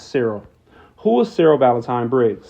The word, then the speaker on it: Cyril: I just noticed I've been saying this person's name wrong, but it's not Cecil, it's Cyril.